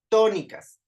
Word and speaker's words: tónicas: Tónicas, sílabas tónicas, ¿sí? Entonces, to es la sílaba tónica de tónicas y ni y cas serían sus sílabas átonas.